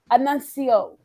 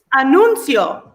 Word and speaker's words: anuncio: We have a special annuncio. Did I say it right? Anuncio. There we go.